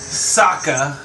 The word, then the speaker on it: Sokka: People don't even know how to pronounce his name. My bad. Would you like to? His name is Sokka.